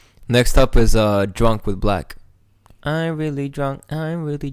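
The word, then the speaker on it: 6LACK: And that was with Black on it, 6 lakh. 6 lakh. Yeah, cool. 6 lakh pronounced black.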